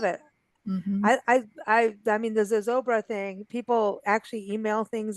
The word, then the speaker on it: Zozobra: Well, the one event that I would like to attend, and you know how to pronounce it, and I don't. Zozobra, Say it again. Zozobra, Zozobra, Zozobra.